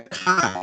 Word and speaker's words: chi: this is not an x this is a kai it's a greek letter it's not a chi